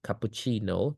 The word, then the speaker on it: cappuccino: cappuccino អញ្ចឹងសូម្បីតែចំពោះខ្មែរយើងគ្នាឯងអត់អីទេបើយើងនិយាយថា cappuccino ក៏គេស្ដាប់បានដែរដឹងថាយើងចង់បានកាហ្វេ cappuccino ប៉ុន្តែបើពួកអង់គ្លេសជនជាតិដើមហ្មងតោះតែយើងនិយាយទៅ stress បានស្ដាប់បានដូចជា cappuccino ត្រូវតែ stress លើ chi ហ្នឹងហើយពាក្យ cereal ក៏ចឹងដែរអា cereal យើងញ៉ាំផឹកឡើងដាក់ទឹកដោះគោហ្នឹងបើយើងនិយាយថា cereal ពួកនឹងស្ដាប់អត់បានទេតើនិយាយថា cereal អាហ្នឹងគេហៅថា syllable stress so for every word you need